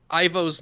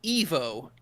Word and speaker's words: Ivo: the way they pronounce ivo's name is fan service because uh it the name is supposed to be pronounced Evo because like that is a real name but the old cartoons always called it Ivo